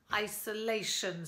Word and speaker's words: isolation: There are four syllables. Isolation. One more demo, please, for the stress, please, Neil. Isolation. Hope you heard it that time. The stress is on the third syllable.